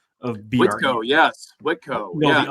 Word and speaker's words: Whitko: First of all, did I nail the pronunciation of BRE? Whitko, yes, Whitko.